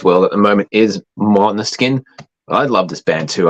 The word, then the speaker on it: Måneskin: Australian bogans call them Mainskin. The correct pronunciation is Måneskin.